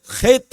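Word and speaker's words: חית: கேப்பை நான் அடைச்சிட்டேன்னு வைங்க இந்த எழுத்தை ஹேத் அப்படின்னு சொல்லி சொல்லுவாங்க ஹெத் ஹெத் அப்படிங்கிற எழுத்து இதை உச்சரிக்கிறது கொஞ்சம் கஷ்டமா இருந்துச்சுன்னா பரவாயில்லை நீங்க ஹெத் அப்படின்னே சொல்லுங்க ஒன்னும் பிரச்சனை இல்லை நம்ம ஒரு பெரிய யூதன் எல்லாம் ஒன்னும் இல்ல நம்ம இந்தியன் தான் நம்மளுக்கு எப்படி உங்களுக்கு உச்சரிக்க பழகி பாருங்க உச்சரிக்க முடிஞ்சனால் சரியா நீங்க என்ன செய்யுங்க உச்சரிங்க இதை ஹேத் அப்படின்னு சொல்லுவாங்க தொண்டைக்குள்ள இருந்து எடுக்கணும் ஹேத் அப்படின்னா அதுக்கு அர்த்தம் செப்பரேஷன்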